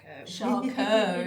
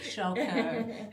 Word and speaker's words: Charcot: Charcot. It's the French word, Charcot.